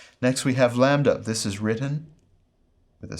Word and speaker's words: lambda: In both pronunciation systems, this is our L sound, like the English letter L, as pronounced in leg, L, leg.